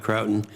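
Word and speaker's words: Croughton: Is that pronounced right, Croton?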